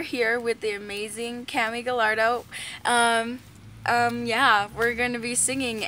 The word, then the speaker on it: Gallardo: So this is Cammy Gallardo, but it's actually pronounced Gallardo.